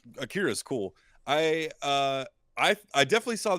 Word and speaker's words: Akira: part of this because we've been pronouncing it Akira. It's Akira.